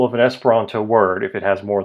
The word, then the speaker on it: Esperanto: Espironto. It's not espiranto or espiranto. It's espironto.